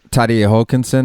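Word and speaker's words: Terje Haakonsen: and i guess you guys had uh uh tadie hulkinson is that how you pronounce his name exactly yeah i mean he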